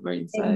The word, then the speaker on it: Marine Serre: I always get this brand name pronounced wrong because I'm Scottish. Is it Marine Serre? Yeah, Marine Serre.